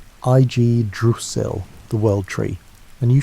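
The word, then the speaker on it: Yggdrasil: What grew from that seed was Idrasil, pronounced Ig Dusil, the world tree.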